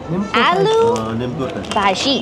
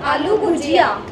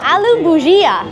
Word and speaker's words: aloo bhujia: Aloo bhaji. Maybe you should ask her how they pronounce it. How do I pronounce this? How do I pronounce this word? Aloo? Ma'am, aloo bhujia. Oh, aloo bhujia.